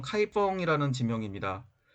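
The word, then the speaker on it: 开封: 양 이라고 하는 지역입니다 신음 개 본 현재 발음으로는 카이 펑 이라는 지명 입니다 뒤 논 남경 중국어 발음으로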